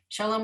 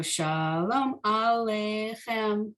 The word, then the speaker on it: shalom: that is i think the indication that the emphasis is switching to the first syllable rather than the later syllable right so shalom you see the ah usually in hebrew you don't put the emphasis on the beginning of the word you put it more toward the middle end of the word but